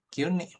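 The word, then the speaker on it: 急に: Kyuni.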